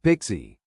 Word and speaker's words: PKCE: PKCE stands for proof key for code exchange and it is pronounced pixie.